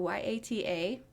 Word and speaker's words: Yata: So YATA, but pronounced like yada yada yada.